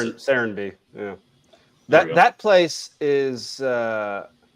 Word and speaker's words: Serenbe: How do you pronounce it? Serenby.